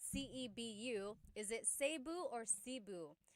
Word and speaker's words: Cebu: So, technically in the Tagalog alphabet, the letter E can be pronounced E or E like the letter I. So, I say Cu. Cu. And I know some people say su, but usually it's either Cu or Sebu.